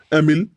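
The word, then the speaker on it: Émile: किताब है social contract और एमल तो ज्यादा ही इनकी एमाइल भी इसको इंग्लिश में प्रोनाउंस करते हैं बहुत फेमस किताब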